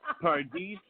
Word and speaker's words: Pardis: Yes, Pardis. I know. I want to make sure I remember. Partrow. Pardis Partrow.